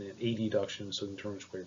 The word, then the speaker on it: adduction: known as abduction and adduction. This is borrowed from Latin, where AB means away and AD means toward. So there's no confusion. I'll make sure that I pronounce them as abduction, adduction.